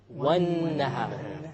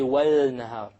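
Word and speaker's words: والنهار: Therefore, how do we pronounce it? Wan-nahar. We didn't say wal-nahar. We dropped the lam because it is a solar letter.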